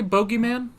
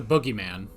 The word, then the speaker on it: bogeyman: worried about oh night did the british say bogeyman i've always heard it as the boogeyman now that's a boogeyman